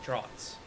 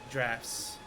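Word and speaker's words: draughts: an ingredient in intoxicating droughts drafts drafts so really like yep that's how it's pronounced feel like I've heard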